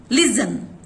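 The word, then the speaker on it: listen: लिजन के अंदर भी टी होते हुए भी टी की साउंड साइलेंट है।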